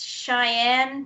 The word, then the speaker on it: Sian: And I think it's Cheyenne Patterson. Her name is spelled Sian.